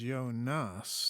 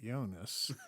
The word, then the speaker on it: Jonas: it correctly it was yo nas not jonas you know you have to emphasis emphasis on the second syllable but you know we